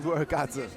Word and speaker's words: Jibuergare: Jibuergare.